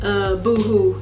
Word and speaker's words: Boohoo: Okay, so I loved Boohoo. I want to say that's how you say it because it's not Boho because it's two O's.